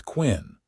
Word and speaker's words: Quinn: I am Quinn, the older man said, pronouncing it the Irish way that rhymed with twin.